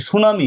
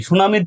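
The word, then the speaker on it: tsunami: যেসব শব্দের প্রথম অক্ষর উচ্চারিত হয় না দেখেন এখানে যে এইযে সুনামি সুনামির টি কিন্তু উচ্চারণ হয় না হ্যাঁ যে সকল শব্দের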